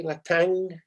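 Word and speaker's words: Le Thangue: a lady called le tang mark have i pronounced that correctly la tang yes i have jolly good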